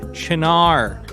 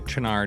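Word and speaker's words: Cynar: Chinar, spelled Sinar. Pronounced 100 different ways, but now we know what I'm talking about, right?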